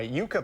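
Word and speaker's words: yucca: plants really take over it's okay yucka to that pronunciation I continue that's the thing with Botanical language people nobody really speaks Latin so nobody really knows how it's supposed to say so anyway um usually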